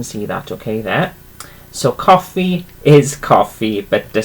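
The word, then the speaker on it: coffi: It is spelt differently, but pronounced exactly the same. So coffee is coffee.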